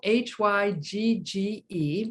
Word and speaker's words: hygge: It's spelled H-Y-G-G-E, but it's pronounced hygge, to describe a quality of coziness that brings forth feelings of wellness and contentment.